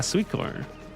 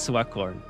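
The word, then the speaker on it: Sweatcorn: My internal screaming intensifies every time he says sweet. Oh, that's too funny. Well, I know now it's sweat corn. So I will say it correctly from now on.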